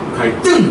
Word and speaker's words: 갈등: 한자어에서 받침이 리을일 경우 뒤에 오는 드스즈는 된 소리로 발음한다. 그러니까 갈등 하지 않죠? 갈등 이렇게.